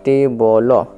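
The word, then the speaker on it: table: দুটো লেটার দেওয়া আছে এই লেটারটি সাইলেন্ট হবে ওয়ার্ড শেষে থাকার জন্য তাহলে এল এর জন্য ল তাহলে টেবল টেবল টেবল মানে হল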